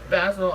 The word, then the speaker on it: Basil: Okay, number 11, 11, is Mickey by Tony Basil. I keep wanting to say Basil because it's spelled exactly like Basil, but it's not Basil. Her last name is not a garnish.